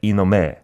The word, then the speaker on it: 이놈의: but sometimes is pronounced just 에, like 이놈에. Mm-hmm. In this case, yeah. are both okay? Yeah. And in real life, I think many Koreans just pronounce it like 에.